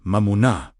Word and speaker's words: Mamona: The true opposite of Mamona, pronounced Mamuna, meaning wealth, material resources, or whatever becomes the object of one's deepest trust, was never financial lack.